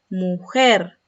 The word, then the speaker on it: mujer: Mujer, volcán, latitud. Son agudas porque presentan el acento en la última sílaba.